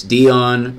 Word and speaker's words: Dion: So it's Dion rhymes with neon.